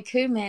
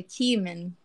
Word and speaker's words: cumin: pepper that's funny because you say cumin and I say cumin human I think I think you say it right I think it's human it's the correct is it yeah um